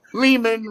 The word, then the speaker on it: Lehman: is it c man he goes ari is it lee man lehman rhymes with a demon so anyway justin is